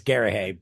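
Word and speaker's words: Garrahy: Lucas, inker Richard Case, letterer Bill Oakley, and colorist Pat Gary is how I'm pronouncing that. Garahay. I think it's Garahay, that's Ah, but only in Scotland in America.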